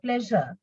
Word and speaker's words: pleasure: And the another problematic sound is j, like the way we pronounce pleasure.